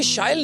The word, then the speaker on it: Shyle: So as you just said, it rhymes with style.